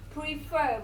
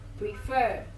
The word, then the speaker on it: prefer: not on the last prefer guys the stress is obviously on the last syllable prefer it's going to be